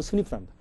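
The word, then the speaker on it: SNP: 영어로 SMP인데 발음은 스니프랍니다.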